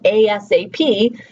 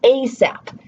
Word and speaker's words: ASAP: Like I can say, get that to me ASAP, or I can say, get that to me ASAP, right? And so ASAP is the spelling, the word acronym part of that. And ASAP is the spelling acronym, but it's still the same term.